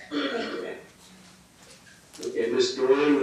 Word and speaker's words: Doran: Doran, it's pronounced Doran, D-O-R-A-N?